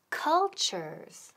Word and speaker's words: culture: It was about cultures. Okay, y la palabra del día, que es cultures. Culture, muy importante la pronunciación. Culture. La T-U suena como C-H. Ojo, cultures. So the class was about cultures.